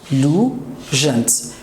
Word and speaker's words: allusions: Allusions. 3 syllables.